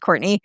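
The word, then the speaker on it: Cortenay: It's spelled like cortune. It's pronounced Courtney. Uh but you won't find me unless you spell it that way.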